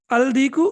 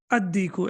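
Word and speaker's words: الديك: How should I pronounce it? Any idea? Al-baytu, excellent. Okay, what about dik? Al-diku or ad-diku? Ad-diku, excellent.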